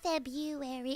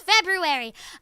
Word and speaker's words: February: There's an R there, guys. It's not February, it's February.